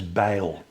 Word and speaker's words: Bijl: Uh last name is Bye.